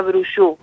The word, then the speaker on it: Brouchoud: no sé francés pero mi apellido se pronuncia brush bueno le pegué